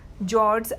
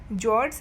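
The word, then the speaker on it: fjord: The Norwegian जॉर्ड्स आर वन ऑफ the world's top tourist attraction. वहाँ का जो Norwegian जॉर्ड है, ये एफ जो है वो साइलेंट होता है, उसको जॉर्ड बोला जाता है.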